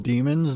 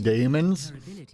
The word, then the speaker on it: daemons: It's actually pronounced demons, not daemons. It's spelt that way because it's a UK-based company.